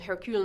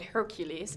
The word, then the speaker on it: Hercule: not just about pronunciation so Hercule wants to be called Hercule not Hercules yes but it's also